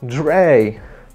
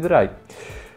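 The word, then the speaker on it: Drei: Oni w ogóle nie czają, że to jest z niemieckiego i czytają Sway, Dray. Jakie Sway, Dray? Spy i Dry.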